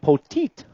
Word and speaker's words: Poteet: luna scruto and myers i've been saying that name wrong all year and i found out friday night poteet got it coming back